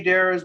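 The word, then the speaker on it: Dariz: your last name correctly therese that's one way it's pronounced about five different ways but i say dares but there is there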